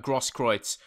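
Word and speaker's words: Großkreutz: letter that is, but I know that's the way you pronounce him is correct. But that's some kind of weird B it looks like. But it must be a S in German.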